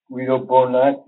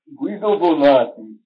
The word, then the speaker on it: Guido Bonatti: with my interest in, Guido Bonatti is the proper pronunciation of his name. I'm always being criticized for slurring these names and these vowels together. So they should properly be spoken with an Italian accent.